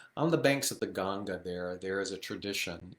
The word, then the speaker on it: Ganga: ganga the some of us call that the ganges uh but it's pronounced ganga on the banks of the ganga there there is a tradition in benares or